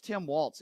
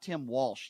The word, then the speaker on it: Tim Walz: Number three, and by the way, it's Tim Walz. It's not Tim Walsh, you frickin' moron.